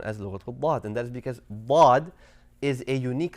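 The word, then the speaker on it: ضاد: you go right here you want to ensure that you are using the side of your tongue the side not the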